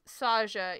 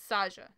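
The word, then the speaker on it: Saga: So yes, it's pronounced Saja, even though her name is written S-A-G-A. It's Portuguese. It sounds like a J sound. So it's Saja.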